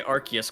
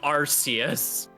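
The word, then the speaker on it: Arceus: We love the British community learning how to say Archus correctly. Well, they did change the pronunciation, didn't they? Uh, they specifically had to correct it so no one was going Arus.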